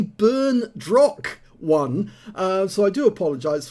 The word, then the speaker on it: berndroc1: of battle results and i got his name wrong it's actually burn drock one uh so i do